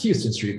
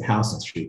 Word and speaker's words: Houston Street: i was walking down houston street the other day which you probably pronounced was houston street but i said house on street because i live in new york unlike you like it's